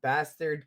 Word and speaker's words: Baztar: Is that bastard ketchup BK? Yeah, it's spelled Baztar, but we have been corrected to pronounce it as Bastard Ketchup BK.